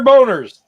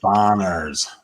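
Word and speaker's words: Bonerz: marshall wallace and uh peter boners peter boner it bonners how many times did that in his lifetime it's pronounced bonner you're like then spell it that way all right brian yeah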